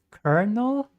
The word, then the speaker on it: colonel: It's kernel. Colonel. Why is it pronounced colonel?